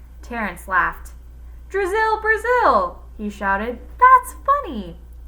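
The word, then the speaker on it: Drazil: drizzle it was just a little joke Brazil rhymes with drizzle and I thought it might help you remember my name Terrence laughed drizzle Brazil he shouted that's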